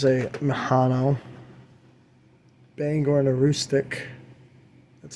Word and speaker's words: Aroostook: Here's a Mahano Bangor and a Aroostook. That's how you pronounce that. Aroostook Railroad.